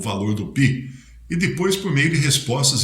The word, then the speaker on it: pi: com uma torta ou pie em inglês, né? Pie é a pronúncia também para o número pi, que nós chamamos de número pi.